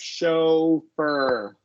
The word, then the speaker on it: chauffeur: a long O here. Show. And Okay. then, Not like August. no, long O. And then a Okay. schwa R after the F. Chauffeur.